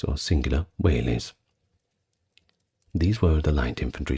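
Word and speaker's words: velites: are going to look it up but is pronounced wh days or singular whes these were the light infantry skirmishers typically the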